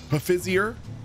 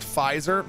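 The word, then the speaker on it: Pfizer: have no idea fizzer Pizer is pronounced fizer listen the p is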